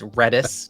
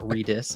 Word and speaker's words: Redis: technologies is not great so it's redis not redis as our engineers were telling me from last week's stream